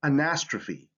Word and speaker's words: anastrophe: So in words derived from Greek, here's the rule: E sometimes makes the long sound at the end of words. For example, anastrophe, catastrophe, hyperbole. So you see that this E has that long sound.